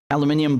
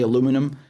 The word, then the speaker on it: aluminium: floor sleeping with these aluminium blankets i know americans say aluminum um what is that